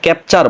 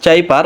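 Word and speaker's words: cipher: আমাকে কমেন্ট করেছিল যে এটা নাকি চিপার না, এটাকে ক্যাপচার বলে। তো ভাই আপনি একটু গুগলে গিয়ে ট্রান্সলেশন করে দেখেন যে এটার মূল উচ্চারণটা হবে কিন্তু চাইপার বা চিপার। আপনি এখানে কোনোভাবে ক্যাপচার বলতে পারেন না।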